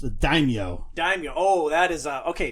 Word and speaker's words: daimyo: So that was pronounced the daimyo. Daimyo. Oh, that is okay. Take a drink first off. And I've been mispronouncing that since 10th grade. Then daimyo. Daimyo. So like 10 cents. Yo.